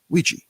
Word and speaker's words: Ouija: Ouija. Yeah. And it's spelled weird. O U I J A.